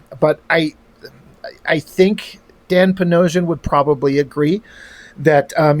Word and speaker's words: Panosian: But um Dan Panosian rhymes with Bedrosian.